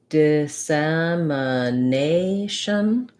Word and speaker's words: dissemination: very very short very little vowel going slowly dissemination dissemination dissemination okay that might have been more than you